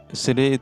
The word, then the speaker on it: city: Orang Amerika itu kalau ada kata dengan huruf T di antara dua huruf hidup atau vowel, maka huruf T yang di antara vowel itu diucapkan dengan bunyi D yang cepat.